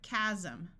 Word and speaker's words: chasm: group of people singing s will sound like Z in this word Chasm chronic a says R